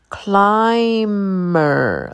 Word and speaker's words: climber: Builder clever clever climber the B is silent climber cracker cracker Danger